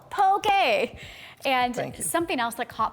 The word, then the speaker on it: poke: had a nickel for every time i hear someone say i'd like a pokeball no pokey and something else that